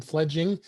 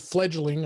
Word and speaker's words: Fledging: and i did i i called it fledgling i don't know why but it is spelled uh f-e-f-l-e-d-g-i-n-g so it's fledging um so uh uh